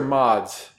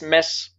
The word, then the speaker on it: Mads: All right, and pronouncing your name, is it Mads or Mods? It's mess. Mess.